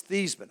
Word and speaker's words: Theismann: Center please tell me how do you pronounce her last name I'll explain it later he said it's thiis minh I hung the phone